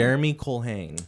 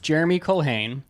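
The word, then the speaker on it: Jeremy Culhane: Jeremy Colhane, Jeremy Colhane, who is active SNL cast member and arguably one of the greatest of all time.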